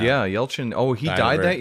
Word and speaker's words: Yelchin: Yeah, Yelchin.